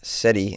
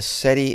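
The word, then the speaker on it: cedi: Anyways, this warning follows a remarkable rebound by the Ghana Ghanaian SETI in 2025, which has appreciated nearly 50% against the US dollar. Oh, the SETI is their currency.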